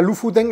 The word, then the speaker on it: Lofoten: Lofoten, me habéis dicho que se pronuncia Lofoten, la verdad es que no sé vikingo, no tengo ni idea.